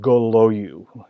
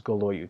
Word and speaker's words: Golojuch: And it's pronounced Goloyu. Golojuch is Goloyu. Take the J, the C, and the H and throw it out of there.